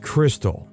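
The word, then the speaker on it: Krxstxl: Confused, the name is pronounced Crystal.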